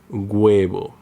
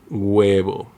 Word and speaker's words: huevo: Sometimes the letter H sounds like G when it comes after UE or IE, as in huevo, huevo, hielo, hielo.